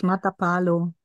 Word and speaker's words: Matapalo: Through her initialization with the Puma spirit on the beach of Matapalo, that's how it's pronounced? Yes, Matapalo.